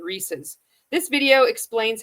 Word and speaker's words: Reese's: Some people might pronounce it Reese's, but the company has clarified that the correct pronunciation is with a zed sound at the end. Reese's. This video explains how to pronounce Reese Reesei. Reese's.